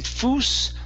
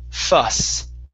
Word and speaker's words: fuss: this word here so instead of saying fo the word is fuss fuss fuss fuss okay